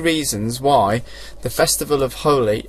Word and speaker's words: Holi: why the festival of Holi Holi Holi or hooli sometimes it's pronounced is important for Hindus